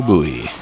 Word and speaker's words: buoy: This is a 51 Century named Oh Buoy. Oh Buoy. Boy spelled like buoy.